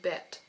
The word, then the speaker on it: Bête: All I know is from my many adventures of La Belle et la Bête that it's usually pronounced bête, but I might still end up saying beat because I am a native English speaker, and